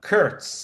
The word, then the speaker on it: Kurcz: Her name is Kara Kurtz. Let me spell it for you. Kara, it's Kara. Kurtz is spelled Kurcz.